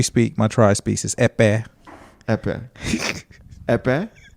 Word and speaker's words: Ekpeye: And the language we speak, my tribe speaks, is Epe. Epe. Epe? Not even close. Yeah. It's spelled Ekpeye, and you got to kind of bath the Epe.